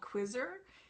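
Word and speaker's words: Qzzr: very popular service called quizzer and it's um it's spelled in text speak but not english q z zr there's no u after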